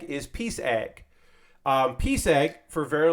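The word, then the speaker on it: PsEG: That's how you pronounce Peace Egg is Peace Egg.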